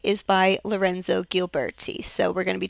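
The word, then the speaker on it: Ghiberti: the one on your right is by Lorenzo gilberti so we're going to be talking about Brunelleschi and gilberti um yes his name is pronounced Brunelleschi this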